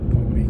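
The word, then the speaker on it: Powrie: And then there's Pawry Castle there as well. Pawry, I think that's how it's pronounced anyway. Pawry Castle.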